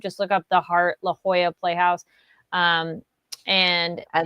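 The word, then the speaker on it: La Jolla: Just look up the Heart La Hoya Playhouse. Um and and that is spelled L A J O L L A.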